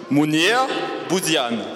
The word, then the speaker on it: Mounir Bouziane: Munir, wir wollen natürlich auch wissen, wie wird der Name genau ausgesprochen? Das ist ja für uns immer wichtig. Munir Bouzian.